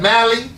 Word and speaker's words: Mali: Mali. Really? Okay. All right. Mali.